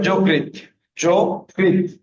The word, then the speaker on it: যকৃত: অন্তত থাকলে তয় অসন্ত, উচ্চারণটা হবে যকৃত, যকৃত।